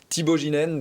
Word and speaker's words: Thibault Geenen: son cofondateur, son président Thibaut Ginène. Bonjour. Bonjour Thomas. Bienvenue. Est-ce que j'ai bien prononcé votre nom? Absolument.